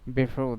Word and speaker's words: before: Before that. So এখানে আর কি হয়েছে, it's a final R, so before, so R will not be pronounced, okay?